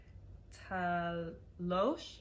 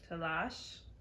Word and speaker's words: تلاش: How do you say it again? تلاش. Talosh? Lash. Lash. Talash. Talash is like struggle, but to struggle means تلاش کردن.